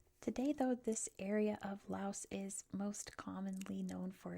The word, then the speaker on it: Laos: Maybe I got to try beans from somewhere like Laos. Also, I should say before anyone comments, I know it's pronounced Lao. I know it is. It's Lao in almost every language including the Lao language.